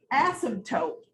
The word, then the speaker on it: asymptote: It's called an asymptote. Look at this funny spelling. It's got a P in it. Asymptote, but you don't really say the P.